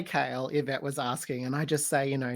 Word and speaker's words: Cael: how do you say kale yvette was asking and i just say you know just like the veggies so much easier to